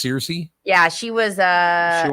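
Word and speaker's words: Cersei: CI CI CI yeah was it oh it's pronounced CI yeah she was uh she one of the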